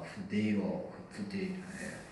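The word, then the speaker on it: φθείρω: 후데이로. 이게 좀 발음하기 좀 그런데 그냥 후데이로 하면 됩니다.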